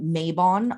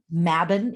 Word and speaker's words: Mabon: about the name of this holiday mavin it's pronounced here in America maybon a lot um mabin is the correct pronunciation and what we are